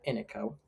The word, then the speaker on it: Iniko: So I've brought Jericho by Ino. Ino. That's how you pronounce it.